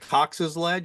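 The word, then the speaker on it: Cox Ledge: impacts, as you say here, this is it Cox's Ledge?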